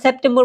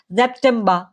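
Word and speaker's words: September: আগাস্ট ওকে আর যেটা সেপ্টেম্বর সেটা কিন্তু আমরা সেপ্টেম্বর বলতে পারবো না সেপ্টেম্বর মাসটাকে বলে কি জেপটেমবা জেপটেমবা আবার এখানে জেপটেমবার বলতে পারবেন না হ্যাঁ যদি জার্মান ভাষায় কোথাও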